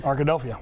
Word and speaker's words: Arkadelphia: Yeah, Ark with like Philadelphia. Arkadelphia.